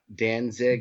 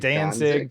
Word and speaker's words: Danzig: wait wait a second did you just pronounce uh danzig danzig dancing whatever he doesn't deserve to have his name pronounced right anyways have i been pronouncing it wrong i've heard it pronounced both ways i always said